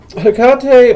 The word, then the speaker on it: Hecate: Hecate or Hecate, as some people will pronounce it.